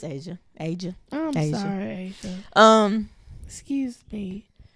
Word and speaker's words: Asia: I know, like the Asha's, it's just her. Her name, Shawty. Did I say Asha? You did. It's spelled that way, but it's Asia.